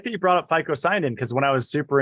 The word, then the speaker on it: phycocyanin: green algae the blue pigment event is called FICO sign in it's a long mouthful it's spelled p-h-y-c-o-c-y-n-i-n anyways we're going to talk about